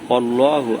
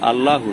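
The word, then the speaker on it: اللَّهُ: আর কুল হু অল্লাহু, আল্লাহু না, কুল হু অল্লাহু। কুল একটা শব্দ, হু অল্লাহু, হু অল্লাহু আর একটা শব্দ।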